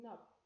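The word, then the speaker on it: knob: Can I read it with letter K? No. I'm gonna read it with letter N. Nope. I'm gonna read it from letter N. Nub.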